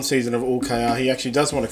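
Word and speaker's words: Hull: I just like to say UL. Is that how it's pronounced, UL?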